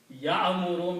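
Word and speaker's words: يَأْمُرُ: So it is not Ya. No. It is, they don't pronounce like Y-A, Ya, or Ya like that. Okay? This is a Hamza. So you have to combine like a jerk, ya, ya, not ya.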